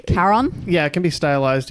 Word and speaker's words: Charon: I think it's pronounced like a k sound at the start, right? Charon. Yeah, it can be stylized either with a C or a K, and it is Chiron. Charon.